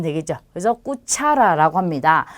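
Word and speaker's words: cuchara: 그래서 꾸차라라고 합니다. 자, 까마 하면 침대를 뜻하는 단어고요. 자, 꼬미다는 음식이에요. 그리고 꾸차라는 숟가락을 뜻합니다. 그래서 아, 오, 우를 만났을 때는 까, 꼬, 꾸로 발음이 된다라는 거고요.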